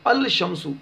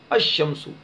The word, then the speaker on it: الشمس: اب لام کا تلفظ نہیں کریں گے بلکہ لام کو شین میں ملا دیں گے، مدغم کر دیں گے. تو الشمس یہ غلط ہے، الشمس.